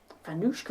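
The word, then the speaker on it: vánočka: Vanushka, it sounds like But a you dance. pronounce it. It does, Just doesn't go it? do the Vanushka. But it's pronounced vanushka.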